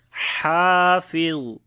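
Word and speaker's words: حافظ: When we stop, we say Hafiz. And soft sound you have to pronounce here.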